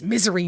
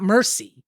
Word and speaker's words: Misery: say it's misery not Mercy oh right yeah yeah